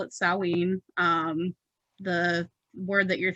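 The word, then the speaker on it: Samhain: know it as all hollows i call it salween um the word that you're thinking is sam hayne that's not the connect correct pronunciation it's salween um but so a lot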